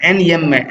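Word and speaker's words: enjambment: इसको जय नहीं पढ़ना, ये साइलेंट रहता है, एनयम्बमेंट, एनयम्बमेंट बोलेंगे इसको, ठीक है।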